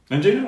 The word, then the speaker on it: angina: Angina? Oh, that's a good pronunciation, yeah.